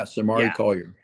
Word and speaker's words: Samari Collier: How do we? Yeah, Samari Collier. Yeah, I'm getting grief. Someone saying I'm pronouncing it like it's wine or something like that, or maybe from Louisiana, doing a little too much Cajun.